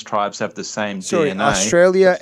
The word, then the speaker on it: Australia: Australia ends with an A, not an R.